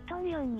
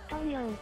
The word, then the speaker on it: 統営: トンヨンに来ました。東映と書いてトンヨンらしいです。